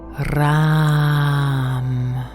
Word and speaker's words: Ram: This time with the mantra RAM. R-A-M. I will sound it for you. Ram. You don't have to roll with the R with your tongue if you find that difficult.